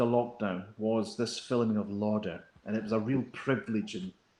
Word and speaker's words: Lauder: were the locked in lauder is that pronounced correctly is it louder yes well it was just